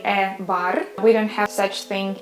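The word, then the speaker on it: бар: The combination ba, the final sound will be also R. And how you say it? Okay, you say it bar, bar, which means a bar.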